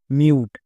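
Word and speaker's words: mute: তাহলে মিউ plus টো মিউট শেষের ই silent তাহলে এর উচ্চারণ কি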